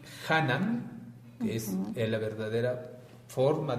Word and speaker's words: Hanan: Y Hanan, que es la verdadera forma de pronunciar, chac, Hanan, Ok.